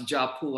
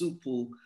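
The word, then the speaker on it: 家谱: So in our world, legacy books, which we pronounce japu, I've heard them pronounce supu, but we pronounce it Japu, the legacy books.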